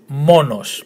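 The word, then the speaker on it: μόνος: So to pronounce it, monos, monos. The emphasis on the first syllable, monos. And monos means alone.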